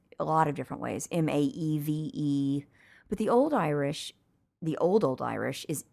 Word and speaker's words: Maeve: But, it's been anglicized a lot of different ways, M-A-E-V-E. But the old Irish is M-E-D-B. And how'd you pronounce that? Maeve. Maeve, not Mauve.